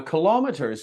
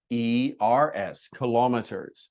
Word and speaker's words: kilometers: In America, they spell it R-E-E-R-S, kilometers. And also they say it differently. Kilometers is what the Americans say. Kilometers is what the British say.